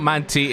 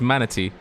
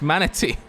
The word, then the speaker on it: manatee: manatee its Manta manatee it's not Monte its manatee it was malady not Mansi but yes we do have for Monty racing cuts manatee you know you're saying it wrong again it's manatee oh yeah oh oh